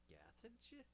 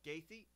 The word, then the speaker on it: Gaethje: Justin Gathage. Again? Justin Gathage. I could do this all day. Spell Keep it. going. Spell it. Spell it out phonetically. Gaethje? G-A-E. Oh, Gaethje.